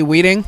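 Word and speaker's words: Wieting: All right, so what do you think of, I don't even know how to pronounce his last name correctly, Weeding, I think is how you pronounce it?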